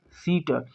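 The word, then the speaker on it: seat: तो ई और ए दो मात्राएं एक साथ आई हैं, तो अगला वाला साइलेंट हो जाएगा, पहली वाली मात्रा के हिसाब से इसको पढ़ेंगे। एस को स, ई को ई और टी को ट, क्या हो गया? सीट।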